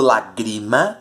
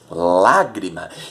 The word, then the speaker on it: lágrima: Lágrima, eu não digo lagrima, eu não digo lagrimar, eu digo lágrima.